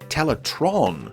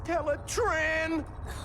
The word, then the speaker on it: Teletraan: within the volcano infamously the computer's name was frequently mispronounced as teletron during this series an error that was humorously addressed on screen in the final episode main thruster is now connected to teletron one it's teletran whatever for a long time